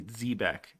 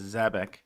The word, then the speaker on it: Zebec: So Zbec or it's actually Zebeck. They they spell it phonetically here, which phonetically they say Zebeck, but of course, you know, Simon and everybody says Zabbec. So we're going to say Zabbec like they say, but phonetically it's Zbeck.